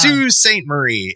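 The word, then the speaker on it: Sault Ste. Marie: and it's like okay it's Sue St Marie is the name of the town and it's weird because it's not spelled Sue and it's not spelled Saint it's spelled salt salt Marie Sal I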